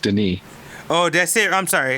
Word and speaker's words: Denis: how do you say it didn't if spelled Dennis within with one end but it's pronounced Denis oh that's it I'm sorry it's not for